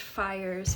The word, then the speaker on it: pyres: P-Y-R-E-S. I think that's pronounced fires.